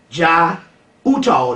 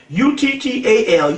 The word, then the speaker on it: Jai Uttal: You need to get a guy by the name of J-A-I, that's his first name, Jai Uttal. The last name is U-T-T-A-L. J-A-I, first name, U-T-T-A-L, Uttal, the last name, and the Pagan Love Orchestra.